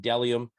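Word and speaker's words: Bdellium: bde ll iom dellium is pronounced dellium even though there's a b in front you know i have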